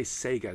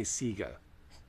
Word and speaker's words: Sega: But say it right. Say Sega. Don't say Sega. Don't be like Wood.